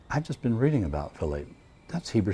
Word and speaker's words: Vilate: And I mispronounced it at first. I said, "Violet M.